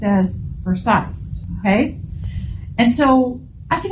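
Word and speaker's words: Forsyth: spelled like foresight right foresight but it is pronounced as forite okay and so I can imagine this couple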